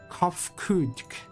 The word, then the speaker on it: Kofkudk: As for nomenclature, to address my individual person, I believe it would be pronounced as Kofkudk.